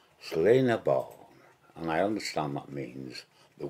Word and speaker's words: Sliabh na mBan: is my soft background it's called slain a bow and I understand means